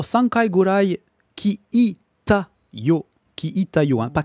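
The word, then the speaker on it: 聞いたよ: Ki ita yo, hein, pas ki ta yo, ki ita yo. Faut bien, bien prononcer ça.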